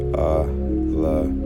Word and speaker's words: Elohim: and write it here, it's a la yum. All right. So that's a laum. That's how you pronounce it.